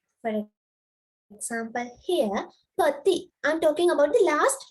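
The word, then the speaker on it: petit: So, pati, we do not pronounce the last letter.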